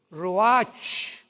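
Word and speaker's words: ruach: Y exhaló Isaac el Roach, apúntalo, como suena R-U-A-C-H, el Roach, que es la palabra hebrea para espíritu.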